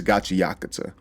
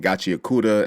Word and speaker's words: Gachiakuta: It's Gachi Yakata. All right. I myself was saying Gachiakura at some point.